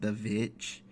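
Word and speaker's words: The VVitch: few years ago, or I believe it's supposed to be pronounced The Vitch, because it's has two V's to spell out the W, and it's meant to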